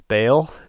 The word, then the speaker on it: Baal: And as a result of their leadership, they've led Israel into the worship of the god Baal, that we sometimes in the West pronounce as Baal.